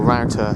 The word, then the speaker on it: Rough Tor: That's Rough Tor, or Router as people sometimes pronounce it, and behind that's Willy, and they're the two highest points in Cornwall.